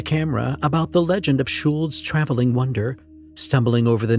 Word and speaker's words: Schuld: Reggie did a piece to camera about the legend of Schuld's traveling wonder, stumbling over the name twice, getting irritated when Ronnie tried to correct him. It's a German name, Schuld, like Schoold.